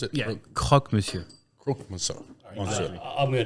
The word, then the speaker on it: croque monsieur: How do you pronounce it? yeah, croque monsieur.